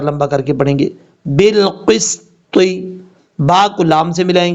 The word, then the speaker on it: بالقسط: طا حروف مستعلیٰ میں سے ہے، پر پڑھا جائے گا. بالقسط، اس طریقے سے.